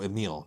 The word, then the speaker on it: Emil: Oh, Emil, not Emily, Emil.